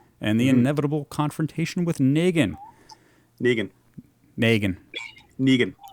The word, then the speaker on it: Negan: Dead this season and the inevitable confrontation with Negan.